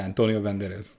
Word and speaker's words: Antonio Banderas: Banderas. Is that how you say his name? Yeah, Antonio Banderas.